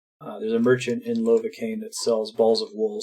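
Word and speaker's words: Lovakengj: says on the wiki that it's Browns lova cane Lobeck engine rhymes with novocaine there's a merchant in lava cane that sells balls of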